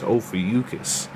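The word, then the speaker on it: Ophiuchus: If y'all don't know how to say it, it's ofus.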